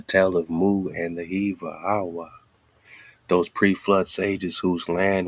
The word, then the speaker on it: HAWAH: that document showing how HAWAH is the oldest name, ancient name of the creator. And you can spell HAWAH with an H-O-A or H-U-A or H-A-W-A. Like, all these are phonetically the same sound.